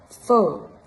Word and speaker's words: phở: Donc, E, comme dans l'exemple avec la soupe fa, qui se lit un peu différemment dans le Nord. Phở.